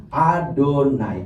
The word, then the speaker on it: Adonai: Nah, jadi setiap kali kita ketemu nama YHWH, kita bacanya Adonai.